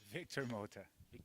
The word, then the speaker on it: Victor Mota: mouth by the name what's your name sir Victor motor motor okay you can see the way pronounce Victor motor it's like it's got a